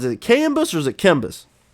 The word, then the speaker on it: KMBus: KMBus or is it KMBus? Just a KMBus. It's like that's how it looks.